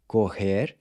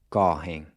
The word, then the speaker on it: correm: But in the next two forms, the pronunciation of the O changes to an open O. Corre and correm.